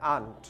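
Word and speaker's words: aren't: তখন সাউন্ডটা এইভাবে আসে আন্ট। এখানে র সাউন্ডটা করা যাবে না, রটা সাইলেন্ট থাকবে। তাহলে র যদি সাইলেন্ট থাকে তাহলে সাউন্ডটা আসে আন্ট।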